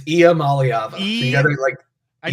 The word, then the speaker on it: Iamaleava: So it starts with an E. It's almost like, well, no, it says I-A. Iamaleava. Did I get it? It's Iamaleava.